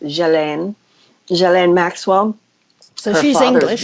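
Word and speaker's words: Ghislaine: looks like just laying Maxwell but evidently it's pronounced jillaine Jolyon Maxwell so he's English Robert she's English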